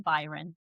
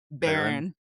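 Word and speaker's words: Beron: So, Lucing It's killing Derek that you're saying Byron. What's his name? Baron.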